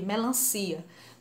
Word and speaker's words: melancia: Melancia. Melancia. A sílaba mais forte, o si, e é sem acento.